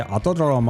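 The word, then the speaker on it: Autódromo: So, so how do you pronounce this, John? The otomosmanos Rodriguez. It is the Vivo Auto Romo. Yeah. Say Auto Dromo.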